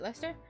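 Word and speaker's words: Leicester: Lester square that you told me last time to pronounce it Lester it bothers me nothing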